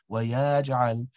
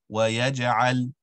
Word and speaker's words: ويجعل: So firstly, the words wabanina and wayaj'al, the ba and the ya, so on the track, so wabanina, wayaj'al, rather those sounds should be basic accents. Wabanina, wayaj'al.